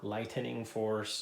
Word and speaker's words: Lightening Force: from the thunderforce series lightning force or lightening Force as it's spelled um to this game